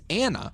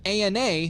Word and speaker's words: ANA: it's an acronym that Ethan pronounces Anna instead of Ana like most every Medical Professional does this also adds to